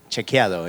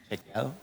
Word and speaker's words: Chequeado: Yes, it's difficult to pronounce. It's Chequeado. Imagine Chequeado.